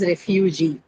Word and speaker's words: refugee: So, another example was refugee, right? Refugee is a trisyllabic, it has 3 syllables, but again, the stress is on the last syllable G because it carries the long vowel.